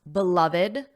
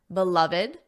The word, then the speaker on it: beloved: Did you notice how I pronounced beloved, beloved? There are 3 syllables, beloved.